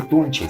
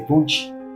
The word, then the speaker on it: tunche: Eh me decía que no se dice tunche se dice tunchi tunchi tunchi con i porque los habitantes lo pronuncian como tunchi Ah nosotros obviamente al